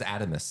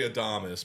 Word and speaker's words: Adomas: Okay, It's technically Adomas, but like no, right. I got you. Americanized. Yes, Adomas. Okay. Adomas is not the Americanized version. That's the Americanized pronunciation of Adomas.